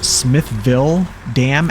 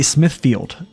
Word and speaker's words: Smithville Dam: I used to pronounce Smithville Dam as like Smithfield I used to say Smithfield for some reason I don't know for the